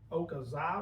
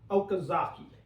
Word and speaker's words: Okazaki: But I believe this is a Okazawa, or is that how you say his name? Let me look this up here. Hang on just a second. Bear with us here. Takashi Okazaki.